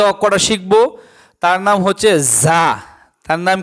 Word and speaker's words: ز: আজকে যে অক্ষরটা শিখবো তার নাম হচ্ছে যা। তার নাম কি? যা। যা অক্ষরটা র অক্ষরের মতই। দেখেন র উপরে নক্তা নাই। যার উপরে নক্তা আছে।